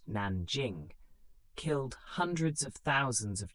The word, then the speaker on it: Nanjing: Most notoriously, the massacre at Nanjing, pronounced Nanjing, killed hundreds of thousands of Chinese civilians and prisoners of war.